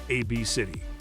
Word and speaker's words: ABCDE: On paper, it appears quite strange, but it isn't pronounced how you'd think. Her daughter's name is pronounced AB City.